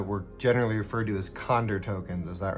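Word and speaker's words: Conder: I think it's cond rather than cander.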